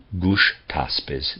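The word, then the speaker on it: Gushtasp: gush tosp zarathustra's defender aard shast is pronounced is spelled a-r-d-s-h-a-s-b arden shasp and gush taspes g-u-s-g-u-s-h-t-a-s-b this war must be seen as an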